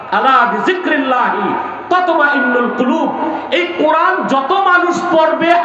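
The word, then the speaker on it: قلب: না, অনেক উচ্চারণ করতে পারে না, বলে কাল। কাল মানে কুত্তা। এটা হবে কল। কি হবে? কল। এটাই আসল।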